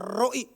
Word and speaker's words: Roi: Tuhan adalah gembalaku adalah Jehova Roi. Bacanya sebetulnya Ro ya. Ro ada komanya roi.